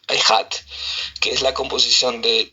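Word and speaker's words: אחד: palabra ejat, bueno, eh literalmente pronunciada e c h a d echat, pero se pronuncia ehat, que es la composición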